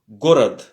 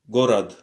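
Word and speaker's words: город: C'est comme le G. Dans gare. Gorad. Gorad. Gorad.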